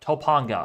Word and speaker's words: Topanga: Jack um I want to get to Topanga Topanga okay that's how you say it Topanga station